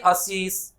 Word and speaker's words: Ashish: If I am saying my name is Ashish, now you have to say Ashish because I write my name like this.